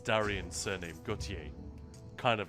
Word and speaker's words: Gautier: Which, by the way, is how we're supposed to pronounce Darian's surname, Gautier.